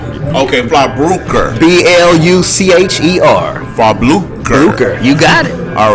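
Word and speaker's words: Blucher: see we have here we have am i pronouncing this right is that frog okay fly broker b-l-u-c-h-e-r for blue crew you got it all right so tell us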